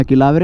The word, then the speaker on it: ക്ലാവര: കാര്യങ്ങളൊക്കെ ഇവിടെ കൊടുത്തു വെച്ചിരിപ്പുണ്ട് ആ കിളാവര ആണെങ്കിലും ക്ലാവരേ ക്ലാവരേ എന്നാണ് എല്ലാവരും പറയുന്നത് ഉച്ചാരണം ക്ലാവരേ എന്നാ ഓക്കേ ഗയ്‌സ് നമ്മൾ ഇവിടുന്ന്